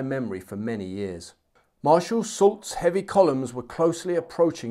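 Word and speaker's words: Soult: someone advised me that sue is pronounced salt not sue so apologies for that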